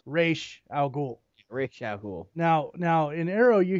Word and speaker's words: Ra's al Ghul: things first and foremost it's pronounced race al Ghul reschedule now now enero